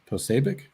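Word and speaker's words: Posobiec: been um censoring conservative voices here uh jack posabic is that how you say his name yeah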